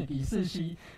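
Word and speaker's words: 李世乭: 世熙啊，我去查字典，这个发音是李世熙，那在韩文叫做 Top 吧。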